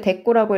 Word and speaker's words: 대꾸: 여러분, 이거 대꾸 읽을 때 대꾸라고 읽으셔야 돼요. 대구라고 읽으면 생선 이름이에요.